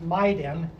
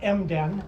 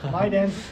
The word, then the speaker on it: MIDEN: So we have our own acronym, which we pronounce MIDEN, Michigan Immersive Digital Experience Nexus. Not MDEN, not t-shirts and baseball. MIDEN, or just DEN for short.